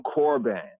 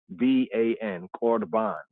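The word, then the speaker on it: corban: In the Brit Chadashah concerning korban. They spell it in the English as C-O-R-B-A-N. So in the English, it says C-O-R-B-A-N. You can look it up in the KJV Bible. C-O-R-B-A-N, korban, the korban, right?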